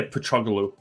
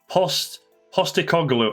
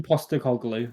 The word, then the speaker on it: Postecoglou: I always want to say Petroglou. Yeah, like the Fulham player. Yeah, I don't know why. Postecoglou. I'm not far off, am I? Angie Postecoglou, or just Angie.